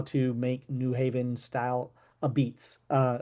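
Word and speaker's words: apizza: make New Haven style a beats. Uh right, that's how they say it in in New Haven.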